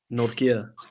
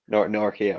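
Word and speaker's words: Nortje: Excuse my terrible pronunciation, but Nora, how do you say it? Norkia. Norkia.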